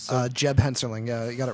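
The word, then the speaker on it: Hensarling: Correct me if I'm pronouncing that wrong. I'm not good with names. So. Jeb Henserling.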